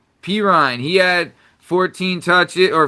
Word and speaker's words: Perine: Per pin, is that how you say it? Perine, he had 14 touches or 14 rushes.